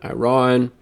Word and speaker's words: Iran: I've gotten corrected on pronunciation, Iran.